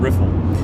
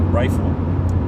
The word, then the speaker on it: Riffle: have a character named riffle I was informed that a lot of people mispronounce it rifle and that they sell